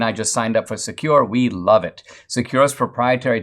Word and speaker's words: Sekur: way yes there is secure it's spelled s-e-k-u-r offers secure instant messaging